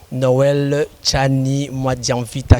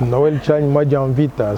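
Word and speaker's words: Noël Tshiani Mwadianvita: Non, vous l'avez prononcé correctement. Très bien là. Noël Tchani Mwadianvita, c'est comme ça que ça doit être prononcé.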